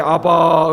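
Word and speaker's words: אבא: 우리도 아빠 그렇게 부르는데 그 사람들도 아빠를 아빠라고 로 발음이 똑같아요 용어로 음녀 칸은 abba 의 압박 새로운 예수님 영화 보면 열심히 기도할 때 아바 을 보기도 하잖아요 그런데 나오죠 아빠 똑같아요 아빠가 여러분 아버지로 뭐라고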